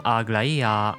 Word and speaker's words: Aglaia: So yes, the way I pronounce the name Aglaia or Anaxagoras, where the pitch rises on certain syllables, is a result of pitch accent.